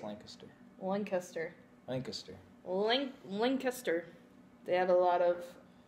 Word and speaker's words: Lancaster: you say it's Lancaster one Kuster Lancaster link link astir they had a lot of Amish there that's